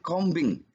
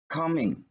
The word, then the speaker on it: combing: begitu Dian dijadikan info bacanya bukan combing tapi coming sama seperti bom yang bukan bumper GTA tapi pamer eh klaim ya bukan Climber tapi claimer jadi huruf b disana dia tidak di ucapkan kemudian aturan nomor 6